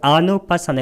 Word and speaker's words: 아누파사나: 그 아누파사나 이것은 단음이고 그 느낌을 아누 따라 관찰하는 마음챙김의 확립.